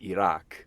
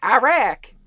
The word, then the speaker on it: Iraq: I think it's called It's pronounced Iraq like that's how it's supposed to be but everybody's like Iraq Iraq attack oh what's that about